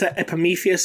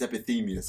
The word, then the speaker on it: Epimetheus: beans I'm gonna get Epimetheus is their apathy meais is how is it that we've all been saying it wrong for this whole time it's apathy meanness according to this I have that was